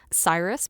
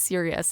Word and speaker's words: Sirius: I did the same thing I pronounced it as a child, Cyrus Black, because I had only seen it when I was reading. And then, you know, hearing it's Sirius.